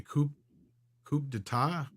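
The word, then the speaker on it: coup d'état: Camelbot Killer also says shareholders has to stage a coup d'etat.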